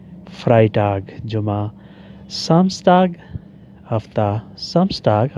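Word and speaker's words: Freitag: जुमरा done stock जुमेरात फ्राई टाग जुमा फ्राई टाग जुमा जहां इकट्ठा ई और आई आ जाए वहां ई साइलेंट होता है और आई की आवाज आती है फ्राई टाग जुमा समग हफ्ता सम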